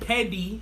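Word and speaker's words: Peddy: clutch shot shea paddy that's p-e-d-d-y but it's still pronounced say petty is part of the petty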